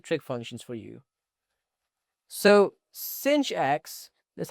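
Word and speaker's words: sinh: So cinch x that's how we pronounce it is equal to e to the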